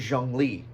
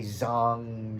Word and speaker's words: Zhongli: The one I forget the most is Zhongli. He is the last event that happened right before this new one came out. And it's spelt like Zhong Gli kind of spelling. So I always say Zong, something like that.